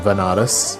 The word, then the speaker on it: Banaras: ended up going to banaras which is a place in in india sometimes pronounced as vanaras which is a place